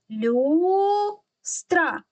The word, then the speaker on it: люстра: поклали ручку підборіддя і проговорюємо це слово частинками люстра скільки складів у слові два визначаємо Який з них наголошений гукаємо куди падає наголос наголос падає на на букву ю а